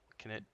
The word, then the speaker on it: Knut: It's Knut Orkbane. Yep, Knut. The K does need to be pronounced.